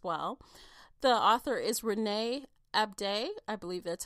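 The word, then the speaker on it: Ahdieh: still alive as well the author is Renee abday I believe that's how you pronounce it a-h-d-i-e-h I apologize if I mispronounce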